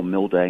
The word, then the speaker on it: Milde: Nick my website it's just my name Paul mill day and that last name is spelled mal de like Delta echo so Paul